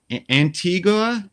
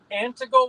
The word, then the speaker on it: Antigo: Antigua, is that how you say it? Antigua, Wisconsin? It's Antigo, Wisconsin. Antigo, Wisconsin.